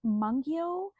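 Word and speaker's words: Mungyo: the side and I have these which are pronounced mongio and it's m u n g yo this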